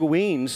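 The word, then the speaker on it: Weems: talking talking to dog Doug weans not wines either it's wngs right I got that pronunciation correct uh Doug wans with wine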